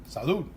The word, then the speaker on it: salud: Salud.